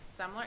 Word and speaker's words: Semler: a friend's name, Semler. Am I saying it right? Semler? Did I say it right? Yes.